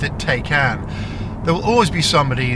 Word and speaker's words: Taycan: Now, there is actually an official Porsche way to pronounce this, which as I understand is Tyan.